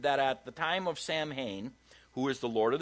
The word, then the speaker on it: Samhain: So what they're saying is the celebration of Samhain, or Samhain as it's pronounced in more the English side, is that's the night